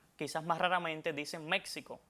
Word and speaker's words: México: quizás más raramente dicen México, pero lo aconsejable, lo que recomiendan las academias de la lengua española es que esta X en estos tres topónimos que mencioné se pronuncie como J porque es lo adecuado.